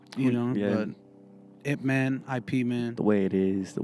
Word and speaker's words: Ip Man: mean no sorry you know yeah it man ip man the way it is the way it is